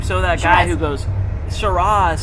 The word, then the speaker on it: Shiraz: love factoids okay factoids i always have said shiraz but truly you do pronounce it and all that jazz so that's why it went with our theme shiraz and jazz instead of shiraz and jaws i would i'm so